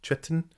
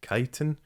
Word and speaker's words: chitin: feels weird to say i always thought the armored plates on tyranids were called chitten i had only ever read it i'd never heard it pronounced when louise sugden pronounced it chitin i thought she'd made a mistake i went and looked it up turns out she was absolutely right and you learn something